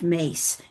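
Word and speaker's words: Myss: Her her last name is spelled M YSS, but it's pronounced Mace.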